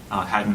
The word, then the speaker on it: Hadon: A lot of people say Hadon or Hadon, Hadon of Ancient Opar. Phil pronounced it Hadon, just so you're not confused when I say it the way that Phil said it.